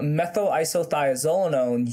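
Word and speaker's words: methylisothiazolinone: this ingredient and perhaps don't know how to pronounce it. So methyl isothiazolinone.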